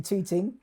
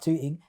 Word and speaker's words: Tooting: And I ended up in Tooting. Yeah. Now I say probably not Tooting, Tooting. Tooting, yeah. Pronounce the T's.